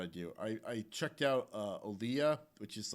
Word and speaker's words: Olija: I checked out Olia, which is like an independent game published by Devolver Digital.